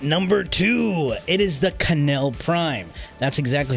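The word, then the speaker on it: Knell: two it is the canel Prime that's exactly how you pronounce it if anybody tells you otherwise they're wrong it is pronounced canel yes because there's a k clearly I know what I'm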